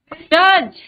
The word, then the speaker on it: judge: Which is the silent letter? D, D, Very good. Judge.